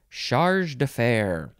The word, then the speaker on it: chargé d'affaires: Charge d'affaires.